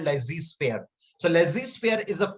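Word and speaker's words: laissez-faire: and pardon me if i'm not able to pronounce that correctly it's a french word it is called lazy sphere so lazy sphere is a french word which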